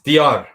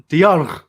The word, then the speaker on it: Diyar: Well, look, I've been pronouncing my name wrong for 20 years because I realized that the Turkish pronunciation is different. So, it doesn't matter. Which part? It's Diyar. Diyar.